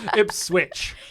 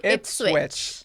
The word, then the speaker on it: Ipswich: We're shooting a wedding in Ipswich. Did I say it right? No. Okay. Ipswich. Ipswich.